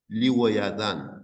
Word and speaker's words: 리워야단: 히브리어로는 그대로 리우어야단 그래서 우리 한글에서는 히브리어 발음 그대로 가져왔어요. 그래서 어 하나님께서 심판하실 때 크고 강한 칼로 랄날렌 뱀 리워야단 이렇게 돼 있는데 히브리어는 리워야단인 뱀 이렇게 리워야단을 앞에다 썼어요.